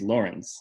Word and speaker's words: Lawrence: Dear inhabitants, my name is Lawrence, like law and rinse, except rinse is spelled R-E-N-C-E, and I know it's not that difficult of a name, but it makes it clear that I'm important.